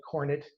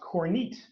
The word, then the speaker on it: Kornit: president of our region and i called it cornet as well and i called the coordinator about three times during our discussion he had to correct me three times so i finally learned that it is pronounced corneat so as i mentioned that the company's been